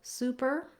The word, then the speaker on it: super: in how they sound first of all super and supper both have the stress on the first syllable so in the word super the stress is on the su and in the word supper the stress is on the sa these do follow a typical rule in american english where when we have the double consonants the pp we have the uh sound and the single consonant